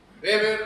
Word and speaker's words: Weber: Max Weber. Weber o Weber, como quieran pronunciarlo.